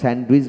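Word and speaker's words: sandwich: তারপর স্যান্ড স্যান্ড উইস আমরা স্যান্ডউইচ বলি দ বলি না স্যান্ড স্যান্ডউইজ স্যান্ডউইজ স্যান্ডউইজ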